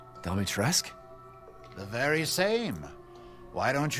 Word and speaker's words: Dimitrescu: Dimitrescu? The very same. Why don't you take a look? Maybe you'll get lucky. And speaking of looking, care to make a purchase? So he said Dimitrescu?